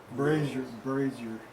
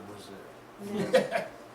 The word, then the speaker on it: brazier: Brazier. It's a brazier, it's not a Brazil.